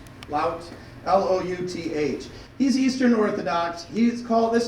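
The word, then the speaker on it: Louth: Lout.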